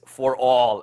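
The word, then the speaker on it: ∀: to know is that when we see an upside down a the way we pronounce it is for all X knot so ASM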